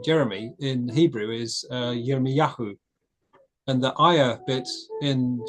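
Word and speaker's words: Yirmeyahu: So um quite a lot of Israelite names ending in ia in Hebrew we pronounced as Yahoo.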